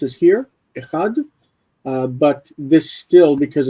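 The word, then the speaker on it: אחד: It's also what led to the pronunciation of echad as echad instead of achad, because you've got this kamatz here. So you don't want a kamatz in front of it, so it's echad.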